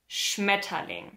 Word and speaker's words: Schmetterling: The stress is on the first syllable of the word. Schmetterling. Now, if you're a native English speaker, you're probably saying something like Schmetterling.